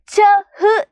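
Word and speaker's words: छह: അടുത്തത് 6 നമ്മൾ ഹിന്ദിയിൽ ചഹ് എന്നാണ് എഴുതുന്നത്. പക്ഷെ നമ്മൾ ഹ എന്ന് പറയുന്ന ആ ഒരു ഉച്ചാരണം ഉച്ചരിക്കത്തില്ല. ച എന്ന് മാത്രമേ പറയുള്ളൂ കേട്ടോ. അപ്പോൾ മക്കൾ ഉച്ചരിക്കുമ്പോൾ എന്താണ്? ച എന്ന് മാത്രമേ പറയത്തുള്ളൂ. പക്ഷെ എന്താണ്? എഴുതുമ്പോൾ ച ഹ് എന്ന് നമ്മൾ എഴുതും അല്ലേ.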